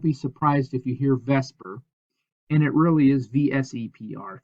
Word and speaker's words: VSEPR: as vsepr theory now everybody in chemistry pronounces that vesper so don't be surprised if you hear vesper and it really is